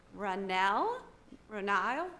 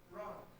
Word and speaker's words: Ron: So the first person is Ronile. Did I say that right? How do you say it? Ron.